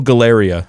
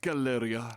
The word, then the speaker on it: Galleria: Oh, Galeria, I think is how Calypso pronounces it, which is hilarious. Westgate Galleria. Galeria. We're having a Black Friday sale. By the end of the day, nearly all vehicles should be slashed in half. Solid joke. Galeria gets me all the time. And maybe I'm just like a dumbass English guy putting the accent on the wrong part of the word, but Galleria is how I've always pronounced it.